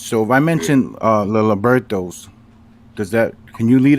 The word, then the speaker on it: libertos: you are you are I get it now libertos libertos b r t o s l a